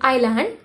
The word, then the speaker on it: island: L a nd s the silent silent in island so we pronounce it as island start writing an area